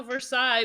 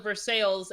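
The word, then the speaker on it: Versailles: oh yeah you know in Kentucky they have a versa but we call it verses and the man just laughed extremely hard at how we pronounce it hearing pretty funny yep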